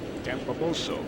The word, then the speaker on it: Campobasso: Great grandparents on his dad's side, and I had to ask Mike Piazza for the pronunciation of this city. Born in Campobasso. Campobasso.